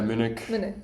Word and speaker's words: Munich: And do you feel like, because you said that you really enjoyed your studying, am I pronouncing Munich correctly? Yeah, Munich.